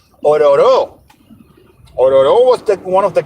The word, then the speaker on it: Ororo: The correct way to pronunciate that is Ororo. Ororo.